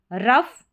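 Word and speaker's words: rough: यहाँ पर जो GH है इसका उच्चारण फ करके होता है, GH का, तो OUGH इस पूरे पैटर्न का प्रोनाउंसिएशन, उच्चारण या पढ़ा जाता है कैसे, अफ।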